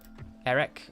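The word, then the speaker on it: Erech: someone's pointed out that shouldn't the CH be pronounces like a case it should be a wreck Eric I don't know I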